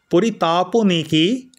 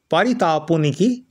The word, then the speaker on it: পারিতাপনিকী: এরপর চতুর্থ ক্রিয়া যেটা সেটার নাম হচ্ছে পরিতাপকি ক্রিয়া। পারিতাপনিকী ক্রিয়া। আমার প্রথমে উচ্চারণটা একটু ভুল হয়েছিল। পারিতাপনিকী ক্রিয়া। পরিতাপন থেকে পারিতাপনিকী।